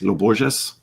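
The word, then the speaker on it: Lô Borges: Lo Borges.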